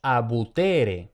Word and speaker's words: abutere: Luego tenemos abutere. Tenemos la penúltima sílaba T, que no termina en consonante, pero sí tiene una vocal larga. Por tanto, de nuevo, la sílaba es acentuada.